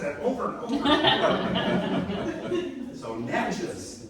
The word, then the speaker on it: Natchez: Don't say nachos, so Natchez.